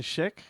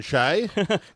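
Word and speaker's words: Schaech: Uh, Jonathan Sheek is in this. Um, Jonathan Shay. Ben learned how to pronounce his name whilst in this interview.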